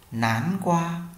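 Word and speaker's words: 南瓜: Hoặc là ta có một dạng nữa to một chút đúng không, chúng ta đọc là tung qua, tung qua, tung qua. Kế đến ta có quả gì đây? Nán qua, nán qua, nán qua.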